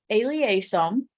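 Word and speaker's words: elaiosome: sure but it is it's aliasum is how it's pronounced It's actually an appendage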